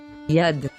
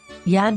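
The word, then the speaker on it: יָד: with the letter yot and the letter dalat yad yad means hand do you remember the nickel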